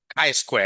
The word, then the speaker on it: chi-square: How do you pronounce this? not chi. Chi-square, isn't it? Yeah, chi-square. So chi-square like that.